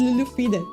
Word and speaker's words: Lulufyra: No, it's not the Lulu. It's Lulufyra. I really like the sound